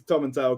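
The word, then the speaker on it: Tomintoul: those things I was like well actually it's Tom and tell because because everyone from Tom and tell someone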